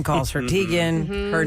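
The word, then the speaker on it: Teigen: I'm well known but that's not actually how you say my name and her mom is like yeah it's tigan guys but there's no going back everyone calls her Tegan her name is Chrissy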